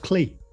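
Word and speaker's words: Klee: no man named clay paul paul clay k l e accent e oh sorry i pronounced it yeah so did i until i heard people who know better say it maybe they're wrong maybe they're wrong yeah yeah who knows ask clee never never criticize someone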